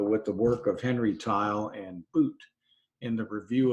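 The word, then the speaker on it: Theil: the work of Henry tile and boot in the review of the International Statistical Institute there's a picture of Henry towel tile you pronounce his last name T IL e although it's spelled tae-il one of the prominent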